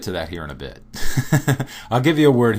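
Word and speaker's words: Б: B. So it looks somewhat different, but it is pronounced similar to the English B, like B as in boy.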